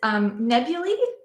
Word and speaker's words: nebulae: Yeah, it's nebulae, which is apparently how you pronounce the plural of nebula.